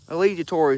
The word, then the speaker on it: alligator: I tell you what, I'll post uh catching an alligator. Allegator. Allegator is the correct pronunciation.